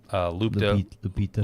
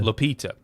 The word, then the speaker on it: Lupita: Lupita. Lupita.